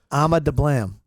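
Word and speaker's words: Ama Dablam: Called the Ama de Blam. What is it? Ama de Blam.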